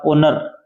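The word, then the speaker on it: honour: एन ओ यू आर ओनर ओनर में H silent है क्या है ओ एन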